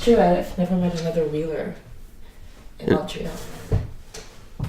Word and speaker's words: Wheeler: But when I wasn't sure, like is it Weiler or Wheeler? Wheeler.